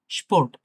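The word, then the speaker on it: Sport: দেখি স্পোর্ট, এস পে ও এর টে। স্পোর্ট, হ্যাঁ? স্পোর্ট মানে খেলা। দেখেন এটা কিন্তু মানে একটু শক্তভাবে তালব্য বসার মতো উচ্চারণ হচ্ছে। একটু শক্তভাবে। স এর মতো না কিন্তু তালব্য বসার মতো, হ্যাঁ? স্পোর্ট, স্পিলেন, স্পোর্ট, স্পিলেন, SPAS.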